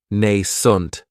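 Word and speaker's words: nascent: And this word has two syllables. And the stress is on that first syllable. It has the long a sound nent. That second syllable has that schwa.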